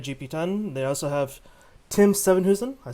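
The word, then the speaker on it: Sevenhuysen: They also have Tim Sevenhusen.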